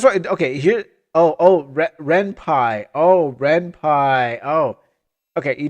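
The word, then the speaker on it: Ren'Py: You pronounced it this you you pronounced it the same as senpai. That's what Okay. Here. Oh. Oh. Renpai.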